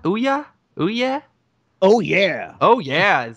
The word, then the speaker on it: OUYA: Not And not to be the prophet on all things gaming, but I believe the pronunciation is Ouya.